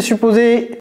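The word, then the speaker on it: supposed: Qu'est-ce que c'est supposé ? Ouais, j'ai pas prononcé le D à la fin de suppose. J'ai pas dit suppose.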